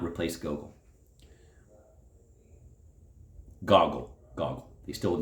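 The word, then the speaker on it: Gogol: Goggle, not goal. The final L is a soft dissolving L, which does not exist in English.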